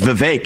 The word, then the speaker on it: Vake: open up I say my name's vake it rhymes with cake it ain't about thee